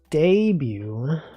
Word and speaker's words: debut: Debut. What about night view? Isn't it weird it's pronounced bu, but it's spelled like butt.